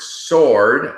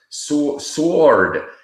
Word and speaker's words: sword: to her the word sword s w r d was sword because she thought the W is pronounced don't forget English you